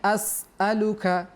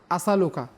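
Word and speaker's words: أسألك: আল্লাহুম্মা ইন্নী আসআলুকা, মাশাআল্লাহ, আসআলুকা। মাদানী চ্যানেলের দর্শক শ্রোতাকে বলবো, আমি বলার পর সাথে সাথে আপনারা বলার চেষ্টা করুন এবং মনোযোগ সহকারে শুনুন যে কীভাবে আমরা উচ্চারণ করছি। ইন্নী আসআলুকা, আসআলুকা, আসালুকা।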